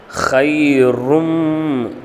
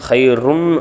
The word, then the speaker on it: خير: லைலத்துல் கத்ரி ஹைரும். ரும்னு படிக்கணும், ருன்னு படிக்கக்கூடாது. இங்கே தோய்பேஷ் இருக்குது, மீமுக்கு சத்து இருக்குது. அப்போது இந்த ராவையும் இந்த மீமையும் சேர்த்து படிக்கணும். ஹைரும் அப்படின்னு படிக்கணும். ஹைருன் ருன் அப்படின்னு படிக்கக்கூடாது.